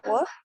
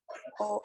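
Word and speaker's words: を: Antes de cada verbo es la partícula wo o o. La pronunciación va a ser siempre O, ¿vale?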